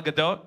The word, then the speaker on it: Gadot: Yeah, because if I say her name in Hebrew, that's what people think.